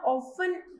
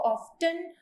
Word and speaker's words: often: तो आप इसको ना ऑफन ही प्रोनाउंस करना, इसको ऑफ्टन मत बोलना।